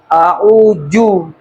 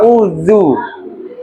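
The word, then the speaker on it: أعوذ: Huruf zal ini sering dibacanya jim ja. Jadi cara bacanya yang salah itu auju harusnya. Auzu.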